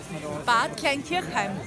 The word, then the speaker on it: Bad Kleinkirchheim: So next year we're going to be in, can you pronounce the name of that resort? Bad Kleinkirchheim.